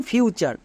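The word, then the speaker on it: future: আরেকটা টিপস মনে রাখবো যদি টি এর পরে ইউ থাকে তখন চোর করবো এবং টি ইউ আর ই একত্রে উচ্চারণ দেবে চার এটা হচ্ছে ওয়ার্ড প্যাটার্ন যেমন ফিউচার চলো তাহলে কয়েকটি হোমওয়ার্ক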